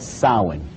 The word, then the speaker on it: Samhain: in the occult world they call it sawing now when you look at the name it looks as if it's saying Samhain or something like